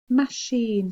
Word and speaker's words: machine: let's have a look spelling one is machine machine so we would normally think that would be s-h-i-n-e but